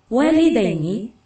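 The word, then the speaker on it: والدين: Walidain, enggak dipisah ini sambungnya cuma top panjang gitu loh. Walidaini.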